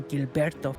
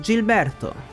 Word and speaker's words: Gilberto: felia family called Mr Gilberto and in Italian G plus I is G while if we want to say G we need an H in the middle so the correct pronunciation is Gilberto we then went to